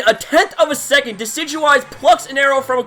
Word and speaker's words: Decidueye: and wacky name because you remember deciduous trees and this thing is a grass type. So, it's a play on words. Deciduous and I. So, Deidui is how I'm going to pronounce this Pokemon.